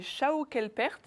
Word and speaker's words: Schaukelpferd: Alors vous l'avez très bien prononcé parce que souvent les gens disent ils font une faute, ils oublient le F après le P parce qu'en allemand ce serait Schaukelpferd avec un F.